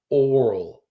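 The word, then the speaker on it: aural: I made a very specific pronunciation. Sipher. Oral. A U R A L. Which means listening.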